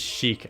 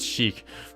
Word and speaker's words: Sheik: think you'll find that my name is Sheik and only ever pronounced shik for we are the